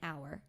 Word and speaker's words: hour: it would be an hour because this is a silent h you're starting with the